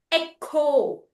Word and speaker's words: echo: What sound does that make? Actually the c sound. The ch is making a c sound. These are Greek origin words.